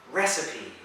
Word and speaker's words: recipe: Difficult, this one, but the correct pronunciation, listen, recipe.